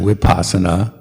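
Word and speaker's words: vipassanā: make it a w so whenever i see a v it's actually wipasana right no one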